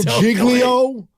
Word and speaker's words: Giglio: jiggly giggly giggly yeah soft G Jo Jo Jo jiggo there you go that dude and I'm